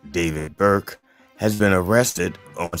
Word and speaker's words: D4VD: Singer D4VD, pronounced David Burke, has been arrested